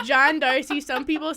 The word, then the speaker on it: D'Arcy: say check there cuz everyone calls me Darcy but like like it legal he is like my name is John DRC that's how you pronounce it but I'm never listening